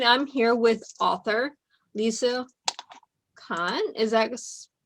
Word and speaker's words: Kohn: here with author lisa khan is that that's like pine all good i butchered